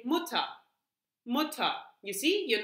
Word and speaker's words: Mutter: Wir sagen nicht Mutter. Yeah? Usually we don't say it like that. If you really want to be very strict with your mother, then you would say Mutter. But usually we just say Mutter.